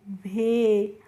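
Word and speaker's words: whey: तो डब्ल्यू एच ई वाई को हम पढ़ते हैं भे।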